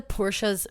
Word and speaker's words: Porsche: But I hate the Porsche's fucking headlights. They drive Porsche. That's how you say it. That's how like you're supposed to say it, but nobody.